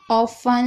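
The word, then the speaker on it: often: शब्द के आखिरी में टी ई एन हो तो टी साइलेंट रहेगा। जैसे कि ऑफन, लिसन, यहाँ पर आप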